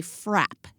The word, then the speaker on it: frappe: If you order a milkshake with ice cream in it, it's called a frap. It is not called a frappe, but frap, as in rhyming with the word trap.